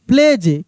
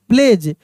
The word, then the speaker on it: pledge: GADGET, gadget, gadget D silent है और जी को ज पढ़ रहे हैं। PLEDGE प्लेज, क्या पढ़ रहे हैं हम लोग? प्लेज।